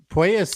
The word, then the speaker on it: Puelles: This one I'll give you is a tricky one, but I believe it is pronounced Puelles. So Puelles sounds much better than Puelles.